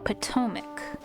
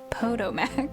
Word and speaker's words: Potomac: Thousands of cherry trees along the banks of the Po PTOIC. Po PTOAC. Potomac. PTOAC. Is PTOIC right? No. I've heard someone say this. The the Ptoic. Potomac, sorry, I forget how to say this one.